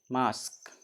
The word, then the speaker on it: mosque: जैसे MOSQUE, इस word के लास्ट में क्या ना, QUE है ना, इसका उच्चारण क्या हो जाएगा? क होता है। MOSQUE, मास्क।